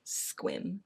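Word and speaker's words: Sequim: Squim. Um People think it's it's spelled s e q u i m, but it is pronounced Squim.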